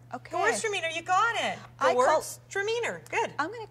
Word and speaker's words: Gewürztraminer: Heather, I want to call it Gewürztraminer. Pretty close. Okay, let's take the word Gewürztraminer and split it into two words. Okay. So let's go Gewürztraminer. Gewürztraminer. Okay. Gewürztraminer, you got it. Gewürztraminer.